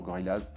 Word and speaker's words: Gorillaz: Ça, chacun prononce différemment. Moi je dis toujours Gorillaz.